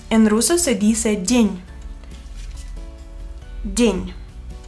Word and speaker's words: день: День. День. Энни es muy suave, D es también muy suave. День.